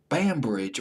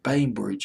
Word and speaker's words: Bainbridge: cute sexy coy record Meryl bambridge or maybe it's bainbridge PA inb our idge Bainbridge I'll pronounces Bainbridge with mouth at number